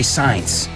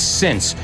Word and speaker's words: since: So, guys, remember, since is the one that sounds like an S. And careful, a lot of people mispronounce that and they say science.